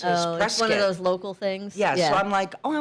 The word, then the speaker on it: Prescott: And then eight is Prescott Valley, Arizona. Oh yeah, but you know what the locals they don't call it Prescott. They call prescat. Why? That's how they pronounce it. Prescuit.